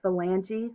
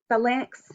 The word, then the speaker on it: phalanx: metacarpals articulate with the phalanges or finger bones there are 14 total phalangeal bones on each hand and each finger has a proximal portion um proximal phalange phalanx is how you say it so you um i